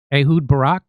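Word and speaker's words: Ehud Barak: They are blackmailing uh uh uh the Israeli former Israeli prime minister uh Ahoud Barack.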